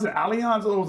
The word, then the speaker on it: Allianz: So that's how you pronounce it, Allianz or it was Alliance? No, it's Allianz.